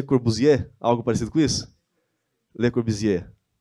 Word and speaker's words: Le Corbusier: Le Corbusier. Ok, tem que fazer o biquinho. Le Corbusier.